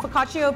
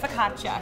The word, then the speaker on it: focaccia: like a soup and then we have the focaccio pizza is that how you say it focaccia she's the resident of person i always get